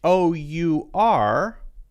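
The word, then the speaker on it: hour: I am saying vowel sounds right so h o u r is pronounced our now is ah is that a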